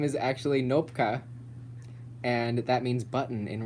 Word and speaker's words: Knopka: Nopka. People say Kanopka a lot, but it's Nopka.